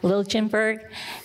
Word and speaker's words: Liljenberg: I always say it wrong. Liljenberg.